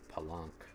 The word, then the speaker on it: Palenque: Yeah, Palanque rhymes with Kronk.